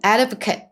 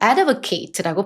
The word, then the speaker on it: advocate: 우리 이거 명사로 들어갈 때는 advocate 이렇게 발음하고 동사로 들어가면 advocate라고 발음합니다.